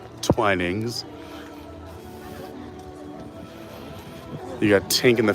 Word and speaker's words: Twinings: From the Twinings family, we learned that is the proper pronunciation. Twinings.